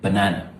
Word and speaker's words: banana: The correct way to say this is banana. Banana. Yes, so the Nigerians, you got this right. Who clap for yourself if you're Nigerian, yeah. So we actually say this word properly, banana, because it's B-A-N-A-N-A. It is not banana. It's not banana. You're not stressing the A.